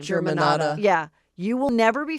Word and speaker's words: Germanotta: Germanotta.